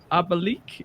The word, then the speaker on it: Abalik: I got to ask how do you say your name? Is it Abalik? Is that correct? That's correct. Yeah. Awesome. Please uh introduce yourself Abalik.